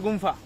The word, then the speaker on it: Gufa: Mahindra Gumfa. Oh, Mahindra Gumfa. not Gupta. Gufa? Okay, thank you for your pronunciation.